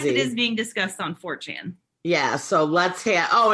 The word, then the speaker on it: 4chan: 4chan for c-h-a-n c-h-a-n-4 chen like channel but short right 4chan okay so they started